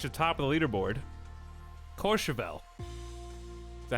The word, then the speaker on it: Courchevel: It's pronounced Courchevel. I think I didn't put enough emphasis on the first O. With like a whistling mouth shape almost. Courchevel. I think I said more like Courchevel. Like C-O-R-E.